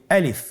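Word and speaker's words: ألف: গলা এবং মুখের শূন্যস্থান হতে আলিফ হরফটি উচ্চারিত হয়। আমরা সবাই বলি আলিফ।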